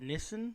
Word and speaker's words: Nissan: This one comes from a customer with a Nissan, or I think as you pronounce it, Nissan.